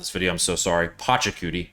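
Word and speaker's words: Pachacuti: Pochakudi, not Pocky.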